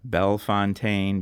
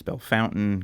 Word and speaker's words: Bellefontaine: So yeah, Bell Fontaine becomes Bel Fountain, gravoir becomes gravo and so on and so forth. So yeah, so it is true that St. Louis people are just bad at pronouncing French words.